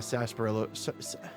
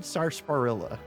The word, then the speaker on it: sarsaparilla: again, it being a sarsaparilla, I've always said sarsaparilla, but it's spelled Sarsparilla. I wonder if I've always been saying it wrong or if the R is kind of like silent like that.